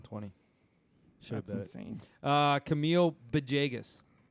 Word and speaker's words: Villegas: should insane uh Camille beas what's with the be at the start of his name I don't know that's how it's pronounced I know but can